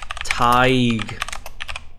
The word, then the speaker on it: thigh: It is thigh. Thigh. Thigh. The thigh, thigh, cái âm thở thẻ lưỡi thôi.